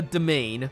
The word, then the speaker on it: demesne: the lord of a domain, which sounds like it should be called Demesne, but is pronounced in a way very similar to domain, which makes sense because